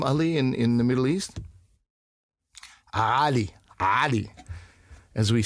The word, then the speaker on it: Ali: That's the, you know, they saw Ali, so I'm Ali. So there's, you know, there's an emphasis on a different syllable, as they say.